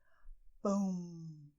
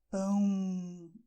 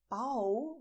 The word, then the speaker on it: pão: pronounce it this way, "PÃO", so you feel the hot air going from your mouth to your nose. You have this feeling, and if you touch your nose, you'll feel "PÃO", the vibration here.